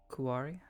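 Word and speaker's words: Quori: several pretty big hits kuari oh um maybe also so you're aware it is spelled with a Q soon it'll become second nature Q u o r i the spell is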